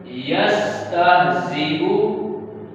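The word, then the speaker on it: يَسْتَهْزِئُ: अब हमने इस या को नहीं पढ़ना, हमने हमजा को पढ़ना है, हमजा को, या को नहीं पढ़ना। ठीक है, किस तरह पढ़ेंगे, यस्तहज़िउ, यस्तहज़िउ।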